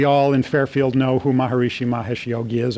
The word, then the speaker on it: Maharishi: in fairfield know who maharishi mahesh yogi is or as we often pronounce his name maharshi and his name is